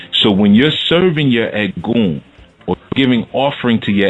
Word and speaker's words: Egun: so we have what's called the egg goon and ed goon is spelled e G u n okay and the egg